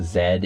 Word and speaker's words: Z: if you didn't know the last letter of the alphabet is pronounced Zed in French and in most forms of English but in American English